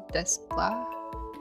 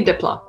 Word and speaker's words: Desplat: So I think that score was by Alexandre Desplat.